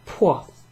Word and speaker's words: può: Può. There's a little accent down over that O, which makes it very clipped.